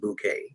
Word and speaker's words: Bucket: Her last name is Bucket, pronounced bouquet, if you ask her.